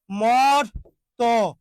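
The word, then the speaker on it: মর্ত্য: বলা হয় হর্ম মর্ত এই যে ম তর উপরে রেফ আছে যুক্ত ব্যঞ্জন আছে তার সাথে জ ফালা ওই জন্য এর আগের অ এর উচ্চারণটা কি হবে অয় হবে মর্ত মর্ত ওকে প্রিয় শিক্ষার্থী আপনারা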